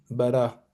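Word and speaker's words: ברא: Par exemple le bar bara en hébreu Berchim Bara on n'a pas prononcé le ça c'est le alef mais il est muet. Hm hm. Il est mu le prononce pas.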